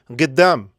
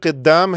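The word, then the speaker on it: قدام: है आप आगे चलिए गद्दाम य असल में कद्दाम है तो काफ को वो प्रोनाउंस करते हैं आम लोग जो हैं लहजे में व ग प्रोनाउंस करते हैं का को तो बोलते हैं गद्दाम गद्दाम मींस आगे आप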